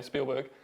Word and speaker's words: Spielberg: I mean, how do you manage to produce like a 20-minute video every week when, it takes Steven Spielberg, and I'm pronouncing it in German way, Spielberg, years to produce his ET or whatever?